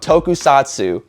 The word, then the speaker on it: tokusatsu: We talked about Oh, he taught me how to say it, so Jake, forgive me. We talked about tokusatsu, I think, is how it was pronounced.